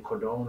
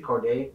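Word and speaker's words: Cordae: I would like to see that because I was just watching YBN Cordone, I think his name is. Corday. Yeah. I said his name wrong.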